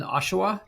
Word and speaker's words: Oshawa: So tell us about, how can people find you ladies if they are in Ontario, if they are in Oshawa?